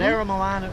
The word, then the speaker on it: Aramoana: we go out to Aramoana, or as locals just call it the Spit, it's easy to say, but Aramoana is the Maori pronunciation.